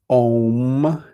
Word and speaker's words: Om: It actually is A-U-M, but the A and the U in Sanskrit is pronounced O.